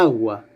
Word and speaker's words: agua: Agua empieza por A fuerte, por A tónica. La primera sílaba, A, es tónica. Suena más fuerte que UA.